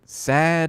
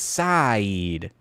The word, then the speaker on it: Saeed: It's like, pick a vowel, dude, Can you just decide, is it sad? Is it seed? No, it's Saeed.